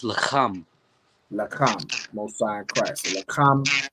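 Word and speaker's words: לחם: Young man, how would you pronounce this word in Hebrew? It's lacham.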